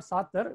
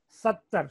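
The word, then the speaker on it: सत्तर: It's not Satar. We have to pronounce as Sattar.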